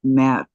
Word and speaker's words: Matto: My name is pronounced Matto. Matt Toe.